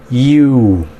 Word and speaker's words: you: Fíjense bien cómo se pronuncia. You. Así como la letra U en inglés. You. No vayan a decir you porque ustedes estarán diciendo una palabra con J.